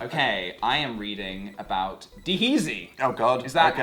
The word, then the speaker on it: D-heezy: Okay, I am reading about Deheezy. Oh God. Is that okay. how is the correct pronunciation? Deheezy. Deheezy.